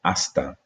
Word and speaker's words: hasta: time with the word hasta. Remember, H is not pronounced in Spanish.